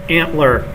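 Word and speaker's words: ANTLR: so we're going to talk about today is antler yay and it's pronounced antler uh this is another tool for language recognition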